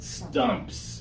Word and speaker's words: stump: now we have just stumps okay the pressure is important okay maybe right now